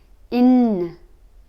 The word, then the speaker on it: нь: featured in this video in in soft sign the little B doesn't have a sound so it's in okay let's get started